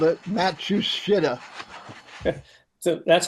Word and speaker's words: Matsushita: And their parent company is like Matsushita or something like that. They also made Technics or Techniques, depending on how you pronounce that.